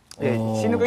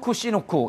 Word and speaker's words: 치누크: 이게 지금 시누크 이제 치누크라고 한국에서는 발음을 하고 있고요. 미국에서는 이제 시누크라고 발음을 하는데요.